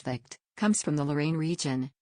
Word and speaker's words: Vacth: Vas the name pronounced vict comes from the Lorraine